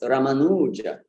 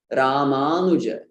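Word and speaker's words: रामानुज: So in fact, the correct pronunciation would be Ramanuja. Ramanuja. That U is really short. I really run through it fast.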